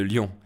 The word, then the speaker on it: Lyon: de la ville de Lyon. Ce sont deux écritures différentes pour la même prononciation.